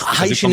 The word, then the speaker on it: Hycean: Hycean world, but then when you say it's hydrogen and ocean, then you say Hycean. Yes, you're in the field. I've also been told that Hycean is the right pronunciation. Yes, Hycean is the correct pronunciation.